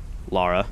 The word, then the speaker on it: Lara: I guess maybe Lara is the way you pronounce it. I think in England, actually. As far as I remember, I heard something like that. That could be completely incorrect. If you're from England, do you pronounce it Laura or Lara? Because here in the States where I live, it's Laura. Usually.